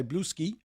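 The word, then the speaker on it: Bluesky: followers on Twitter and they've gone to blue sky or blue ski. We've we haven't figured out how to say it. We think the Russians may say blue ski uh but everyone else says blue sky.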